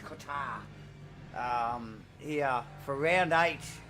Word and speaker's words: Qatar: remembering really first pitted car on track here tonight at Qatar or Qatar. I'm probably pronouncing pronouncing the Q too much. I think it's Qatar.